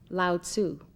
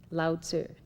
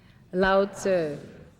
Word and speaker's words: Lao Tzu: Many of you have commonly heard his name pronounced loudsu, but it is correctly said loud and it is spelled l a o tzu. Lzer. Would you like to say that with me? Loud sir.